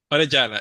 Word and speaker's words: Orellana: know the Spanish pronunciation is it like Arana Orana yes yes yeah perfect well